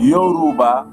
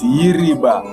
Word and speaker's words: Yoruba: named the tribe called yoruba is not even yoruba it's iriba it's a malinky but they cannot say the malinka pronounciation they say yoruba but it's iriba because wherever malinka best